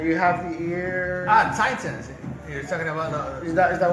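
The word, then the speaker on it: Titãs: Yeah, and this Titans actually were pronounced Titans.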